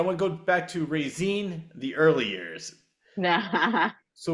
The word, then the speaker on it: Raizine: How do you pronounce your first name? No, you're saying it correctly, Raizine. Raizine. Okay, it is because so it's Raizine. I want to go back to Raizine, the early years.